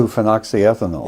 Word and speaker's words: 2-phenoxyethanol: How do you pronounce it? 2-phenoxyethanol.